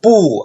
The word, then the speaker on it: 不: But if bu is put before a fourth tone syllable, there's a change in tones. So the fourth tone of bu is changed into second tone.